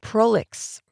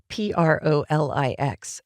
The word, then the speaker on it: prolix: Prolix, pronounced in English, it's a French word. Prolix.